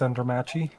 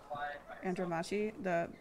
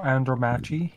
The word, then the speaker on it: Andromache: It is pronounced Andromache. Andromache, like a macchiato. No, Andromache. Andromachiato. No, Andromache. Not she, chi.